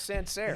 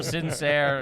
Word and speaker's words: Sancerre: Yeah, it was something about Sancerre. Right? Sincere. Yeah. It's not sincere.